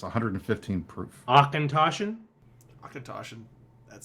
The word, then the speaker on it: Auchentoshan: Akatoshin. That sounds Hold on, German. is it- That sounds you like a pronounce German it name to me more than It's Scottish. not though. It's Scottish. Auchentoshan.